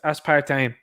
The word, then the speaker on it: aspartame: Yeah, it's aspartame is how they say it.